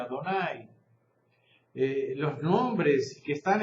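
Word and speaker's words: Adonai: de otra por ejemplo el nombre de Dios en hebreo no se pronuncia se pronuncia adonay eh los nombres que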